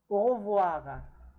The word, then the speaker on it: au revoir: Au revoir. Au revoir. Au revoir. You see here, voir is a verb which means to see. Au revoir. And the OE, as always, pronounced as wa. Okay?